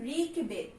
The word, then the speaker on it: ঋগ্বেদ: এই রি যখন থাকবে তখন আমাদের উচ্চারণে গিয়ে সেটা কি হয়ে যাবে, বৈষ্ণ র। ঋগ পর্যন্ত একটা আমরা উচ্চারণ করি, তারপরে বেদ একটা আমরা উচ্চারণ করি। কেমন? তাই এখানে দু জায়গায় দুটো ধাক্কা পাচ্ছে বলে আমাদের দুটো হসন্ত হয়ে যাচ্ছে, বা দুই জায়গায় আমরা থেমে থেমে উচ্চারণ করছি, কেটে কেটে উচ্চারণ করছি, ঋগ বেদ।